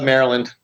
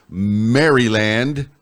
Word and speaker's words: Maryland: It's really, if you look at it, it's Maryland. Yeah, Like Mary, not Maryland.